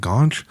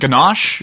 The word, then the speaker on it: ganache: gob's that's something it maybe I'm saying it wrong but ganache ganache yeah I've heard of ganache yeah that's it that's the show everyone